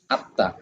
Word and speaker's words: আত্মা: তাহলে এখানে ম ফলাটার তয়ের সঙ্গে মিলিত হয়ে আসছে, তাহলে ত কে 2বার উচ্চারণ করাবে, যেমন আত্মা, আত্মা।